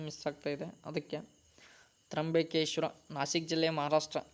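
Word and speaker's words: ತ್ರ್ಯಂಬಕೇಶ್ವರ: ಓಕೆನಾ, ಸ್ವಲ್ಪ ಉಚ್ಚಾರಣೆ ಮಿಸ್ ಆಗ್ತಾ ಇದೆ, ಅದಕ್ಕೆ ತ್ರಂಬಕೇಶ್ವರ.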